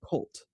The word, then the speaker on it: CVLT: It was born from something called Cult, pronounced just like the word cult, because that's exactly what they are.